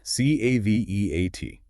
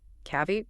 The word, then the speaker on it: caveat: All three syllables are pronounced clearly. Yes, and the stress is on the first one.